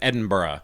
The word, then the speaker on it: Edinburgh: of it as somebody who has no idea it's spelled edinburgh yeah but it's edinburgh and barack okay uh borah means castle so it's an edin castle i guess and so it edinburgh has basically sprung up around what used to